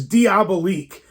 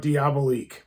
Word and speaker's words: Diabolique: It's Diabolique.